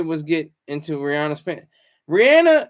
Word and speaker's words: Rihanna: Rihanna, yeah, it's Rihanna. It's not Rihanna. It's Rihanna. It's because of her accent that it sounds like Rihanna. It's actually Rihanna. That's actually how her name is pronounced.